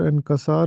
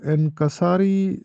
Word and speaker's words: انکسار: لیے بولا جاتا ہے۔ یہ درست تلفظ عاجزی اور انکسار ہوتا ہے۔ اکثر لوگ اس کو عاجزی اور انکساری لکھتے پڑھتے یا بولتے